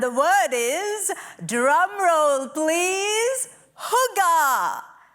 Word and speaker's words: hygge: word is drumroll please whoo gah I'm gonna teach you how to say it and then I'm gonna share what it means so we're gonna split it up repeat after me whoo gah now we're gonna put